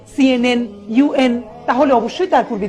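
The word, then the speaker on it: UN: সবাই খেয়াল করি, আমি এই অর্গানাইজেশনের নামগুলো যখন বলছি তখন কিন্তু আমি ইউএন আন বলছি না, বলছি ইউএন।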